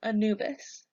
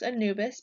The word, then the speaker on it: Anubis: Pharaohs next we have Anubis you can pronounce Anubis by breaking it down into a new bus Anubis Anubis is the god